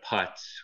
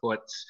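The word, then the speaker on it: Putz: pronounce this for you it's an easter tree puts not a putts which is how most people would look at it and pronounce it but they call it a puts and at christmas time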